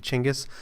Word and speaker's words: Genghis: focuses almost entirely on genghis or i guess the more proper pronunciation and the more modern pronunciation or the interpretation of the pronunciation will be chingus but we're gonna go